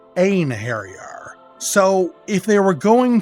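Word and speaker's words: Einherjar: side my Noble en Harrier now the original pronunciation was off as well it's not Ein harier it's a harar so if they were going to fix up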